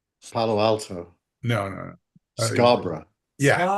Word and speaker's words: Scarborough: But it's it's spelled borough, but you pronounce it, especially if you're from Yorkshire, it's Scar- borough, like b r a.